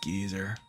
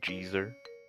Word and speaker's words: geyser: I couldn't put up with this geyser. Actually, it's pronounced gezer.